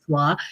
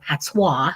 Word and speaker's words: patois: patois, we call it patois. Let's say it properly, but in Jamaica we call it patois.